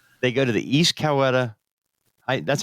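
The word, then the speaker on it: Coweta: So yeah, they go to the East Coetta. I That's how you pronounce that, right? Kawita. Kawita. Yeah. Weed. Yeah. Kawita.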